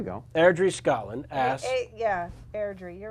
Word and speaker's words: Airdrie: Yeah, at Ross_Owen from Ardry. You know, he spelled it phonetically for me back here. In the Oh, chat. then Sorry. Airdrie.